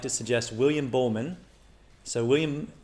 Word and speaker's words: Buhlman: So first, I would like to suggest William Bowman. So William Bowman is spelled Buhlman.